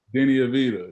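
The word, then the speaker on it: Deni Avdija: out there i know you played with uh danae abijah is that how you pronounce it danny avita yeah um what i got no he's obviously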